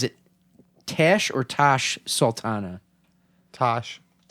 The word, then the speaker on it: Tash: okay now help i think i'm going to pronounce this wrong is it tash or tash sultana tash like t-a-s-h yes it's star player australian she's